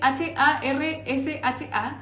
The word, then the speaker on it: harsha: Y vamos a hacer un pan marroquí que se llama harsha, y el pan marroquí se escribe H-A-R-S-H-A, harsha.